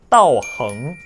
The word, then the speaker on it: 道行: 그러면 여기에서는 이 단어를 따오싱이라고 읽을까요? 아니면 따오항이라고 읽을까요? 두 개 다 아니에요. 여러분 완전 멘붕이죠. 이 단어를 어떻게 읽어야 되냐? 잘 들을게요. 입 확대해 주세요. 따오흥, 따오흥, 두둔. 앙이 아니라 이럴 때는 응인 거예요.